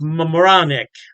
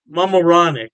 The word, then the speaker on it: Mamaroneck: Halftime Beer has two locations in New York State, Poughkeepsie, and I believe it's pronounced Mamaroneck. Mamaroneck. Yeah, don't quote me on that pronunciation.